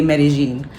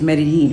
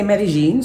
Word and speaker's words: Medellín: good morning it's another beautiful day in Medellin Colombia it's day number two by the way in case you're wondering why I'm calling it Medellin the people who live here say Medellin I know it probably goes against everything we